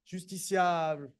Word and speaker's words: justiciable: We say justiciable. And if you want to make it a little bit more grandiloquent and pretentious, you make a long A in the end, justiciable.